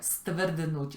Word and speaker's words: stvrdnúť: voy a dejar escrita, stvrdnuć, que es endurecerse, se pronuncia, aunque parece imposible pronunciar todo, se pronuncia stvrdnuć, o sea, S, T, V, R, D, N, U, Ch, se pronuncia todo.